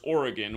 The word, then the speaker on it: Oregon: the only state with jamatri of 74 is Oregon where the Blazers are and again for all